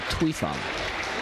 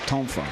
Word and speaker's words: tonfa: There are many pronunciations of it, but what you see here is called the tuifa, or tonfa.